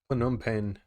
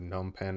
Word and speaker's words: Phnom Penh: survival in phnom penh hanging out phnom penh that's how you say it i've been reading it wrong i said gnome pan or something like that before uh that's really cool